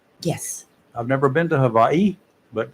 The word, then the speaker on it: Hawaii: different than Hawaii yes I've never been to Hawaii but it's a little bit different than Hawaii wonderful Havi is the way to pronounce it yes I learned that a long